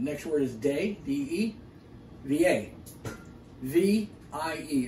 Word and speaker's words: Vie: And then next word is de, D-E, V-A. V-I-E. It's not V. That's French. Same spelling, same word, but it's pronounced V-A.